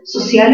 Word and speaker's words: social: Entonces, social es una palabra aguda, porque tiene la mayor fuerza de voz en la última sílaba.